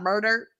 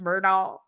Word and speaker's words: Murdaugh: Murdaugh, as Alec likes to call himself, the Murdaugh family. It's not murder. It's Murdaugh. So you keep up with those accents.